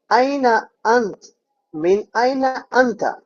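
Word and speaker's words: أين أنت: থেকে এসেছন আইনা আনতা এভাবে স্পষ্ট করে প্রতিটা শব্দ উচ্চারণ করে বিশুদ্ধ আরবিতে কিন্তু আঞ্চলিক আরবিতে আরবরা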